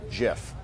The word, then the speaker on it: GIF: actually insists it's pronounced jiff why does he say that I don't know why you said it's pronounced jiff like the peanut butter no because it's it's